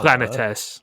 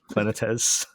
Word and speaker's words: Planetes: How are we pronouncing it now? Planetes. Planetes.